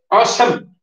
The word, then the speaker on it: awesome: I'm coming to awesome. Awesome. Look at that, awesome. E silent there. Awesome. Both E's are silent. A-W-E-S-O-M-E. Awesome. Sami no.